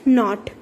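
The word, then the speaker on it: knot: Next नॉट, अब यहाँ पे नॉट में भी सिर्फ के लगाया हुआ है, के साइलेंट है, नॉट ही बोलते हैं हम इसे।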